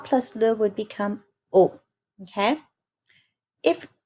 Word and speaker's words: au: And then the only other one that changes is a plus les becomes o. That's pronounced o. Okay? So, for example, it's not je vais à le cinéma, it's je vais au cinéma.